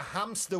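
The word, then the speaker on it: hámster: Oh, Es uno de los pocos casos en los que la H del español no es muda, se pronuncia como una J, no decimos Que hamster.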